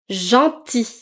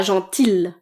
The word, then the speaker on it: gentil: Ensuite, oui, gentil. Gentil et pas gentil. Le L est silencieux. À la fin.